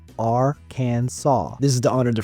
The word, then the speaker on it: Arkansas: bathtub but they must stay away number 19 Arkansas it is illegal to mispronounce Arkansas and when I say mispronounce I